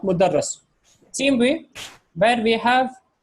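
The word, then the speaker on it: مُدَرَّس: So this is mudarris. What is the second one? Oh, okay, that is mudarris and that is mudarras.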